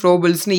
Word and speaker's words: Froebel's: அதாவது KG system, KGன்னு சொல்லாதுன்னா என்னன்னா, இது எப்படி சொல்கிறாங்கன்னா, Froebel's FROEBELS, இது எப்படி வேணால் நீங்கள் ப்ரொனவுன்ஸ் பண்ணிக்கோங்க. எனக்கு வந்து ஃப்ரோபிள்ஸ்னு ஈஸியாக இருக்குது. ஸோ ஃப்ரோபிள்ஸ் கிண்டர்கார்டன் சிஸ்டம் தான் வந்து இதை பேஸ் பண்ணி ஆக்டிவிட்டி பேஸ் பண்ணி.